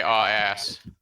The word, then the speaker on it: AWAS: Yeah, I would say aw ass. That's exactly how he said it last time.